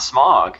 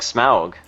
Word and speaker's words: Smaug: it really yeah okay it's not smog smack it's like Smaug that's how I'm pretty